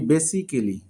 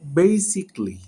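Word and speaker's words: basically: যেমন আমরা শিখতে পারি আমরা বলি বেসিক্যালি। বাট এটার উচ্চারণ হবে বেসিকলি।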